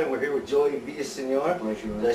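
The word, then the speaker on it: Villaseñor: is Ian Troy and we're here with Joey vior did I say your last name right yes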